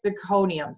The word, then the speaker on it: zirconium: She goes, do you have diamonds or do you have cubic zirconiums?